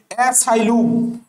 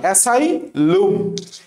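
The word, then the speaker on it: asylum: আমি এই জিনিসটাকে এখনো উচ্চারণ করি। সেটা হচ্ছে সাইলুম। সাইলুম উচ্চারণ করো না ভাই উচ্চারণ দেখে পোলাপান হাসাহাসি করুক তোমার উপর কোন সমস্যা নাই নাম্বার তো তোমার ঠিকই আসে উচ্চারণ করবা এসাইল এসাইল ওকে এরপরে বলছে সেটা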